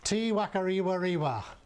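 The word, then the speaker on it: Te Whakarewarewa: Tiwakariwa. The unpronouncable name on the notice board is usually shortened to T Werewa.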